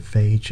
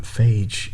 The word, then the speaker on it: Phage: it up off camera google pronounces it phage and then there's a uh it's something called bacteriophage phage bacteriophage and it's a bacteria and they pronounce it like that so i'm going with phage until i hear otherwise but phage he comes